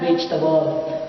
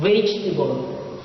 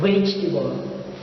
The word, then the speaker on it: vegetable: next word is the word vegetable it's not vegetable it should be pronounced as vegetable again vegetable next word is the word liberal it's not